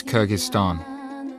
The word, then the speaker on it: Kyrgyzstan: Well, you want to say it Kyrgyz way? We want to say it the right way. Kyrgyzstan. Okay, let's say it the Western way. Kyrgyzstan? Kyrgyzstan. Well, we expected, I think, in all honesty, Kyrgyzstan.